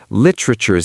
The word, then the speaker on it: literature: Literature. 3 syllables. The E is gone. Lit-ra-ture. Actually, in American English, that T becomes a little soft, almost a ch sound.